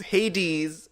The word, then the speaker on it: Hades: Because Hades rhymes with gives these.